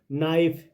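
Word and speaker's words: knife: right W silent है नाइफ के silent है यहां पे लिसन टी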